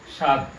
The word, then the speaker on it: স্বাদ: 1 নম্বর নিয়ম হলো শব্দের শুরুতে বফলা থাকলে বফলার উচ্চারণ হয় না। শব্দের শুরুতে যদি বফলা থাকে তাহলে সেই বফলার উচ্চারণ হয় না। কেমন দেখুন তাহলে, যেমন এখানে রয়েছে কি স্বাদ, স্বাদ, এখানে রয়েছে ত্বক, স্বাস্থ্য, জ্বালা।